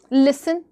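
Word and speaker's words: listen: college में जाना है लिसन एल आई एस टी ई एन लेकिन टी को पढ़ते नहीं तो साइलेंट लेटर्स आर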